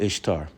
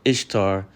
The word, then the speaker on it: Ishtar: But the but the root of Easter, which is how you pronounce Ishtar, is all about is all about um celebrating fertility and sex.